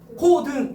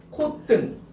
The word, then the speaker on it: 콧등: 그러면 요거 발음해봐. 코등 이러지 않잖아. 콧등. 그럼 분명히 된소리 대기의 환경이 아닌데도 뜬으로 발음되지 않니?